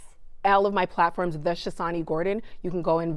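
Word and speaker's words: Chotsani: So it's spelled C H O T S A N I, but the T is silent. So the Shassani and then Gordon.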